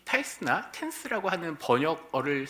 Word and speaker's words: tithe: 11조, 즉 10분의 1을 드려라 라고 할 때 타이스라고 하는 첫 번째 단어가 있고요. 텐스는 10번째 거에 해당합니다. 그러니까 11조라고 하는 개념이 밑에 이제 조금 이상하게 생긴 게 히브리어고 영어같이 생긴 게 헬라어입니다. 히브리어도 보면 이 타이스나 텐스라고 하는 번역어를 쓸 때 다 이 히브리어에서